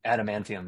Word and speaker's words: Adamantium: Adamantium. Did I say it right? Adamantium, yeah.